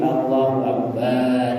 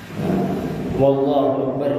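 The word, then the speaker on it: الله أكبر: wau sebelum lafzul jalalah tidak menambah wau sebelum lafzul jalalah wallahu akbar ya boleh ditambahinya wau wallahu akbar jadi harus Allahu Akbar yang berikutnya tidak menambah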